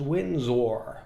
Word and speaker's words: Windsor: And I should mention here that I hear it pronounced a lot as Windsor by Americans, which I love, by the way. I appreciate and enjoy the difference in the pronunciation. But just for those of you who are curious abroad and want to say it the way that we say it in our English tongue, it's Windsor. Windsor.